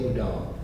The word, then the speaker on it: Houdin: he married and his wife's name was Cecile udon and that's spelled h-o-u-d-i-n if that sounds familiar to you